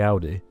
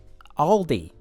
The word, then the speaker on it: Aldi: Did I say Audi? Well, it sounds similar, huh? Aldi. Yeah. I'll say it like an American. Aldi.